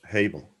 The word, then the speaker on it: Hebel: Table, like table with an H. Excellent. Hebel.